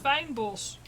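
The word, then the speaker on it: fynbos: It's actually pronounced fijnbos.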